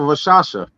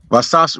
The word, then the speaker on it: Rakshasa: Rock, as in like there's a rock in the ground. Rakshasha. No shot. Rakshasa.